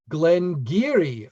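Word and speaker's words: Glen Garioch: to pronounce um but it's g-a-r-i-o-c-h yes pronounced glenn geary of course of course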